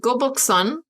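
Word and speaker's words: 거북선: bonuses in humankind rose well we have the goboxon which i clarified with my husband on how to pronounce that before the street before our podcast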